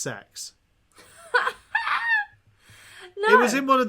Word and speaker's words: CeX: did you know the shop cex is actually pronounced sex it was in one of their ads they